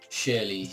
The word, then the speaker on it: Schürrle: Oh, Andre Schürrle. Or Schürrle. How do you pronounce it, Ant? You're the Chelsea fan? Sherry. Shirley, yeah. That's actually how it's pronounced.